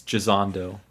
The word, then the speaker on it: Gisondo: Yeah, I said it right. Yeah. It's Gisondo.